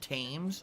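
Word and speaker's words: Thames: yourself comfortable oh the the h in fames is silent it's it's called tames oh okay the tames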